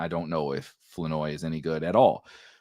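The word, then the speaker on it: Flournoy: right it's it's spelled floor oroi but it's pronounced floi which is th still throws me off every single time uh but Ryan floi as rookie sixth round pick wide receiver out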